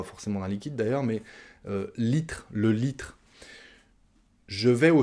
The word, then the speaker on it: litre: C'est comme ça qu'on prononce, on mange la dernière syllabe, le RE. Je vais prendre 1 litre d'eau.